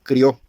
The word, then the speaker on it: creó: imagen de Dios lo creó varón y hembra los creó Y sí lo dije bien hermanos no es creo en la versión antigua dice crió con acento en la o precisamente con i y con